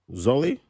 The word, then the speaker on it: Zwolle: Zwolle?